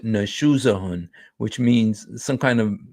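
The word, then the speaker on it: نشوزهن: The crime here is nashuzahun, and that you pronounce it nashuzahun, which means some kind of misbehavior or disloyalty or something.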